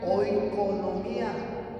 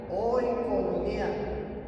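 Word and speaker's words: oikonomia: La palabra economía proviene de una palabra griega que se pronuncia oonomía. Oconomía, que es economía y significa ley doméstica.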